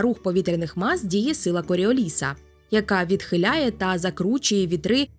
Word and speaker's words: Коріоліса: Колись в старенькому відео про силу Коріоліса я спеціально наголосила про те, що це французьке прізвище і правильний наголос на другу літеру і.